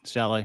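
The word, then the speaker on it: Salé: Yeah, you nailed it, Saleh.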